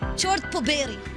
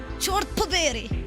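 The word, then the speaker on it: чёрт побери: Chort poberi. Poberi means damning. Chort poberi.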